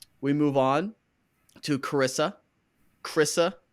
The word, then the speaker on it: Carissa: Chrissa, I think 2 syllables, not Carissa. I think it's just Chrissa.